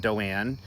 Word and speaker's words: Doane: and i'll put that in the comments and doane for those who have just joined d-o-a-n but it's pronounced doan and i just want to say